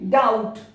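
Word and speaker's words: doubt: कैसे, डाउट, बी और T English में जो साउंड है वो नहीं है बी और टी।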